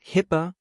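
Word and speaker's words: HIPAA: It means tracking compliance with regulations like GDPR, HIPPA, pronounced HIPPA, and PCIDSS, and with frameworks like ISO27001 and NIST.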